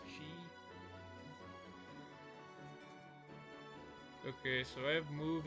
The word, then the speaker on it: Qi: Pronounced Chi.